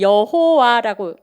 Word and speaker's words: 여호와: 그래서 그냥 우리 성경에는 여호와라고 부른 사람들이 있고 또 그 점을 갖다가 몸을 어떻게 해서 야외라고 읽어야 된다고 하는 사람도 있어요 그래서 여러분들 성경을